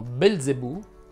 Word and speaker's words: Belzebù: z sorde o aspre la z andrebbe pronunciata sorda quando è davanti alla consonante l infatti si direbbe rialzare rimbalzare smilzo calzolaio infilzare balzello balzano sobbalzare calza innalza le uniche eccezioni sono belzebù e bolzano la prossima settimana ci